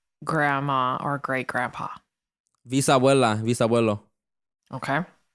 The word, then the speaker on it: bisabuelo: Is it bisabuelo, like VIS, or how do you say it? So bisabuelo is BIS.